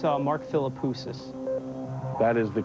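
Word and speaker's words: Mark Philippoussis: I think it's Mark Filipus. That is the correct pronunciation and the correct person.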